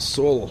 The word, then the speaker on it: sol: And sol, if you pronounce it in Norwegian, sol, that means sun.